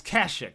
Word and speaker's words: Kashyyyk: eat your damn Cheerios anyways onward everybody to Kashyyyk Kashuk Kashuk it's Kashuk I'm sorry it's Kashuk yeah I messed up that pronounced the ocean didn't I whoops now watch